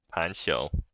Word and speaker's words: Panxiou: scroll fan responded so it's supposed to be pronounced pensho probably or Pancho right yeah so anyways the set is pronounced Pancho so if you want